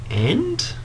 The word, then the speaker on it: v: v, it is pronounced and, where it's a civil matter. So this particular case here, Humane Society Incorporated and Kyoto Senpaku Keisha Limited. In criminal matters, it's pronounced against.